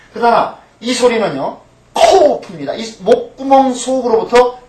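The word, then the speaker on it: קוף: 근데 이건 K가 아닙니다. K가 아니고 그 영어에서 말하는 Q 있죠? Q 발음입니다. Q 발음을 낼 때 어떻게 냅니까? 목구멍 아주 속으로부터 그것을 끄집어내야 되는 소리죠. K는 어때요? 가볍게 그냥 가볍게 K 이렇게 말하 크 말할 수 있어요.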